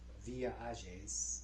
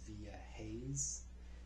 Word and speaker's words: Villa Hayes: So I was sent to a town, in Spanish it's called Villa Ages, or in English you would say Villa Hayes.